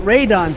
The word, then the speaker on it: Radahn: Granted, by the time we kill Bayle, our editor should be making one final video of us fighting Consort Radahn to explain my gear.